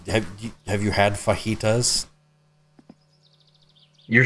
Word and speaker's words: fajita: do you know have you have you had fajitas you're saying it wrong too no yeah you